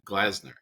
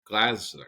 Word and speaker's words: Glazer: get your name wrong it's glaz glasner Glazer Glazer like the Fox Sports guy you know the guy